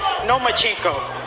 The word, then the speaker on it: Lomachenko: I think you said his name wrong. It's Lomachenko because he doesn't want to fight me.